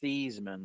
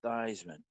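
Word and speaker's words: Theismann: his pronunciation it's got two wins but it's pronounced theeman like Cheeseman not thyman but he changed it because it rhyme with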